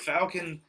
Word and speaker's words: Falcon: And he basically pronounces the A like a U, and I can't remember if he says that from now on.